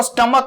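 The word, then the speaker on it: stomach: अब देखो स्टमक में सीएच लिखा हुआ है, फिर से आप इसका देखो तो एक्सेप्शन बनने वाला है, और वैसे भी इसकी प्रोनाउंसिएशन सीएच की यहां पे च नहीं क है, तो इसीलिए यहां पे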